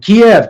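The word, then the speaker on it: Kyiv: talking about ukraine and kiev kiev kiev and over the weekend or something all of a sudden everyone says key they use the ukrainian pronunciation but yeah yeah there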